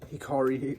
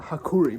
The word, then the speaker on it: Hakuri: where Samura is by his name's like Hikari. I should remember his name. He's like a very important character. Yeah, Hakuri. My bad, I got his name wrong.